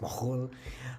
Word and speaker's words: McKhool: from my ancestry, where my last name McKhool would have been pronounced McKhool.